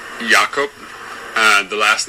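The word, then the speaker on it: Jakob: name really pronounced so my first name is pronounced yakob and the last name is a little bit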